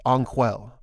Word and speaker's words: Onquel: what is your name I am called onquel there's a long a sound at the beginning are you a technician on Sirius ankel no I'm a counselor